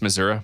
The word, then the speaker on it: Missouri: Hey, have you two heard it pronounced Missurah before? No, that's the first time I've heard that. Oh man. So it's there's certain parts of Missouri that pronounce it that way.